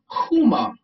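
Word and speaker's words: Kuumba: talk about um the next principle which is pronounced kuma which stands for creativity the symbol for today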